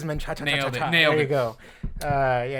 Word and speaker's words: Menchaca: other than Lewis and I believe I'm pronouncing this right menaa yes it is menaa there you go uh